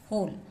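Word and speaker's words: whole: होल होल। यहां पे हम डब्ल्यू को नहीं पढ़ते हैं। डब्लू साइलेंट होता है। इसे हम होल ही पढ़ते हैं।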